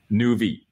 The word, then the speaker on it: Nuvve: On voit le sigle de votre société derrière, ça s'écrit NU2VE, comment ça se prononce? Nuvve. New Vehicle.